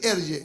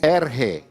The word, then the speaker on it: ERGE: Y se pronuncia así, ERGE. ERGE. ERGE.